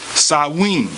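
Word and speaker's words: Samhain: Feast of dead or called Sam Hayne pronounced sawing and was on November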